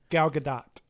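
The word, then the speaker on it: Gal Gadot: Galgadat. Okay. See, I've been pronouncing that for years.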